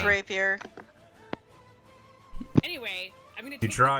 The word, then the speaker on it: rapier: just pull out the repair and graveyard i don't know how to say this word it's rapier anyway i'm going to